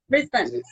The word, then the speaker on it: Brisbane: Brisbane. Got it. Okay, great. Because I hear a lot of people say it differently in America. Brisbane.